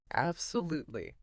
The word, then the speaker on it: absolutely: you need to learn the stress pattern of the entire word, not just individual syllables. Right, the whole rhythm. Exactly. So it's absolutely with the stress on live it, Absolutely.